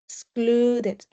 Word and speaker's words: excluded: Remember remember, if a verb in past has the letter D as in David or T as in trash before, it means that the letter E is going to be pronounced.